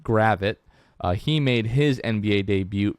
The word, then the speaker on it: Gravett: Hassani Gravett, not Gravett. We now know that it's pronounced Gravett.